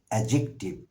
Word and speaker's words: adjective: not pronounce D কোন ইংরেজি শব্দে যখন ডি এবং জে লেটারটি পাশাপাশি বসে আমরা ডি উচ্চারণ করি না উচ্চারণ করবার সময় স্পেলিং